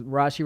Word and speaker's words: Rasche: I put a little thing behind it that says Rasche rhymes with Kashi, and people are starting to get it.